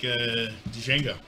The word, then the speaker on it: Django: I'm going to take Django. Okay. Because I like shooting people. The Django, huh? It's just... I'm going to get you. Hey, Big Tex, D is silent, sir.